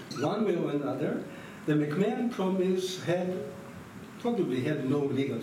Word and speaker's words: McMahon: So, of course, there were two, and the book juxtaposes the McMahon, what's the best way? McMahon. That's what the British pronounce it.